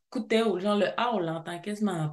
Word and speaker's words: Akuteu: à coup Tho coup même que ça se prononce coupo genre le a l'entend que ok parfait donc